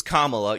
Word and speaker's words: Kamala: Michael Eric Dyson saying excuse me it's Kamala you have to pronounce it right and then of course